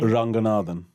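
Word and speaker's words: Ranganathan: Ranganadan.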